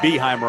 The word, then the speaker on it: Beheimer: I thought it was Beheimer too, and I asked for the score table. They said Beheimer. I go, I'm glad I asked.